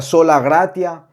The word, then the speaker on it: sola gratia: por gracia verdad que en latín a esta frase se pronuncia sola gracia si estudiamos un poco